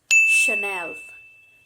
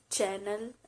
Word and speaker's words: Chanel: a bags brand it's so chanel chanel it's not channel it's chanel you might